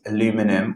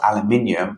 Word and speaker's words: aluminium: form the white precipitate aluminum or aluminium hydroxide the examiners kind here how you say it so however you want to say it is fine the simple equation for